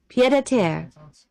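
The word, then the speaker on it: pied-à-terre: Pied de Tar. Pied de Tar. Pied de Tar. click it. It's Pied... Oh, please. Pied à terre, Yeah, here, try to listen again. Is it Pied de Tar?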